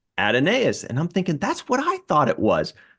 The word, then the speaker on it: Adonais: in one thing, it said it's pronounced just like Adonis. I'm like, that's pretty weird. It's a weird spelling for Adonis. And then another one said, very clearly the English, British English, American English, and Australian English pronounces it Adonais. So it sounds like 3 out of 5 are saying Adonais, and I think that's good enough for me.